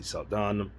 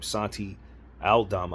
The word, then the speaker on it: Santi Aldama: So, when you talk about Jake LaRavia, Santi Saldana, I never know how to say his name. Santi Aldama, I believe is how you say that.